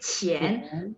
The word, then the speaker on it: 钱: 钱，钱，对，钱。 Q baca CH ya, 钱。